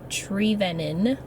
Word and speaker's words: Trevenen: gonna be technical about it I just say trevenna because it's easier because people have a hard time saying it my last name is tree venon what yes it's pronounced tree lennon i used